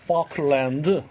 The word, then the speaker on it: Falkland: Falkland. 네.